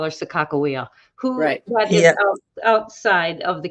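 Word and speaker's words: Sakakawea: with the mandans and in the Mandan language there isn't a a soft G sound so they wouldn't have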